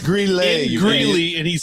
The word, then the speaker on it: Greeley: It's pronounced Greeley.